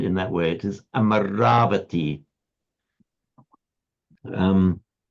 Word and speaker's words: Amaravati: Don't ever pronounce it amaravate.